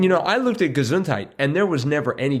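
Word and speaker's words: Gesundheit: See, you're saying gazunt with a t. You're not saying it's it's spelled ge s u n d. Gazuntite. Gazuntite. But I I really, you know, lay into the t there.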